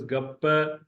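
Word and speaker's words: گپ: This is गप, गाफ पर जबर, पेपर जबर, गप, कीचड़, मड, गप।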